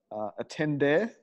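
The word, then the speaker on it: attendere: animala G is Latin a tenday bad pronunciation ATT en de re which means to give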